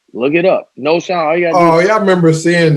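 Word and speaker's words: Knowshon: This dude's name is spelled K-N-O-W. Noshawn Marino, yeah. Look it up. Noshawn.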